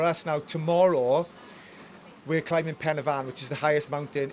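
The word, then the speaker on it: Pen y Fan: you're doing uh excuse my lack of Welsh pronunciation here but you're you're climing climbing Pavan Pavan is that is that correct yes so um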